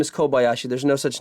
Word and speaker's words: Kobayashi: And she says, it says Kabayashi Madi here.